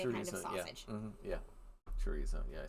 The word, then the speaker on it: chorizo: you like to order today I have ham T tzo and gossip I think it's chorizo but it's definitely a kind of sausage yeah chorizo yeah I said it wrong all right let's